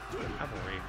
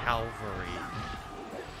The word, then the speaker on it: cavalry: Now I got smacked by a cavalry. It bothers me when people say Calvary. No, Calvary was the hill that Jesus Christ was crucified on.